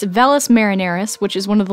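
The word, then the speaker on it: Valles Marineris: ice caps and some notable features are the Valles Mary aren't I should have looked up the pronunciation before hold on okay I feel stupid now it's velas marineris which is one of the largest canyons in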